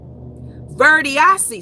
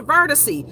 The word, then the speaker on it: Verdiacee: Say her name. Verdiacee. Some people call her Verticee.